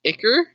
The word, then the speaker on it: Igor: snake and possess it I have never heard it pronounced Igor before really I have only ever heard it pronounced icker and have fascinated why